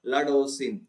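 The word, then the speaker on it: laudanosine: Okay, laudosine. Okay, भाई इसको गलत प्रोनाउंस मत किया करो. It's called as laudosine.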